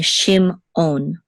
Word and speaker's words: Shimon: that separation thing again so we're not going to say Shimon we're going to say shim on okay and an accent this is the accent it's a Katon and this is own so this is Shimon and the accent is on the last syllable with the with the